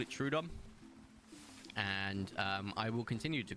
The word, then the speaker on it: Troodon: Troodon is the correct.